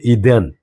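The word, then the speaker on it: Eden: 지난번에 여러분 에덴이죠.이 영어 영어 영어 발음 어떻게 하죠? 이덴이 누구 알죠? 미션인스바 이덴 어 이덴 이덴 그게 에덴이에요.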